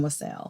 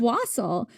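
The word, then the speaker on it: wassail: have done that or I could make some wasel continues to mispronounce wasel. It's was wasel.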